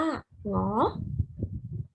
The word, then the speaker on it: หงอ: นำ งู อ่าน ว่า หงอ หอ หีบ นำ ๆ หนู อ่าน ว่า หรอ เพราะ ยิ้ม นํา มอ ม้า อ่าน ว่า หมอ ดู เรา จะ ใช้